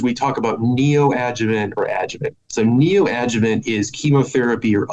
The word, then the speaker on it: adjuvant: No, you nailed it. It's adjuvant. So adjuvant is something that means after.